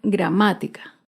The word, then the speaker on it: gramática: Ahora vemos otro ejemplo con la palabra gramática. Gramática se acentúa en la antepenúltima sílaba.